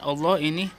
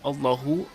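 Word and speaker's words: اللهِ: sekarang ke Allah lafadz Allah ini yang di tengah nih Yang diatas bisnis adalah Peta lah Allah ini dibacanya bukan allohu allohu tetapi Allah Ih kenapa dibaca Allahi karena Allah yg di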